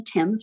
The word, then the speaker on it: Thames: with whatever but to thames it looks like things but the british pronounced at the thames the thames river which kind of